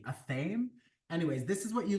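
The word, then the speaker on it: athame: at aame a t h a m e aame anyways this is what you like cast spells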